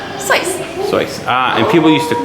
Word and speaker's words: Seuss: but was it pronounced seuss how is it pronounced slice soy ah and people used to call him seuss